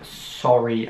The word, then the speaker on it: sorry: sry beschrieben wird und es wird sorry ausgesprochen dass am anfang wird auch wirklich die einen ausgesprochen also so nicht so oder so oder so dass posten nicht gründlich wie wir es manchmal im englischen sehen sondern einfach nur sorge ich sage es noch